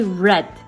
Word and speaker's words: read: work tree okay simple i read a novel then i don't say i don't pronounce re i say red because this is past simple teach me someone get